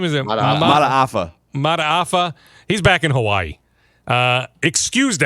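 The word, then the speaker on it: Mata'afa: Mataafa.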